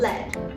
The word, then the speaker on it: lead: it's the noun right it's more of a shorter sound led however the second word